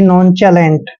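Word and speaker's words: nonchalant: और टी को ट पढ़ते हैं यानी कि नॉन चलेट दोस्तों नॉन चलेट होता है बेपरवाह ला परवाह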